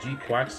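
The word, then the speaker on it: GQuuuuuuX: But the art style for, I think it's pronounced G-Quax. You know, I'm gonna call it G-Quax.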